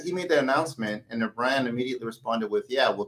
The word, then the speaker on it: Iran: I mean, whatever you call it what you want, but that's just it's pronounced Iran.